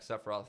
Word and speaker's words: Sephiroth: Sephiroth needs his.